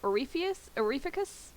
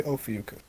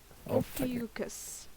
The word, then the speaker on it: Ophiuchus: Orificus? Orificus? I say Ophiuchus. Ophiuchus. Okay, I'm putting an R in there where I shouldn't.